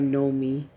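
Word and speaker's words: Gnomee: She goes by Nomi. She's always gone by Nomi, you know, when we were kids. And, but, so for online, so she spells it this way, with a G.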